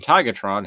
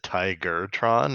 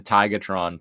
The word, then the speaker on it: Tigatron: And then the voice actor for Optimus said Tigertron, and I was like, hey, you say his name right. he always says Tigertron.